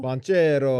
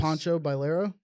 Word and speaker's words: Banchero: Banchero. What did I say? It's not. Is he Italian? I say Yes. Pancho Bailero.